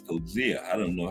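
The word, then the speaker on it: Coetzee: Bruce Scarce was the one told me how to pronounce Cozia.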